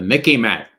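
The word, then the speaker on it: MICIMATT: appears in some dictionaries the Mickey mat sort of rhymes with Mickey Mouse so you can remember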